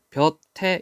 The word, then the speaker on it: 볕에: 벼태 역시 뜻이 없는 조사, 모음으로 시작하는 조사가 왔으니까 벼태.